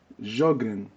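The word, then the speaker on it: Sjögren: S is silent. Sjogren. Like George, Sjogren.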